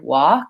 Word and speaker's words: walk: little bit more about some other words that have the silent L so we had walk and talk often is